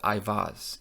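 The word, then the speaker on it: Eiwaz: Now, the name itself, Iwaz, comes from the word you. It's simple phonetically. It's you, it's an E.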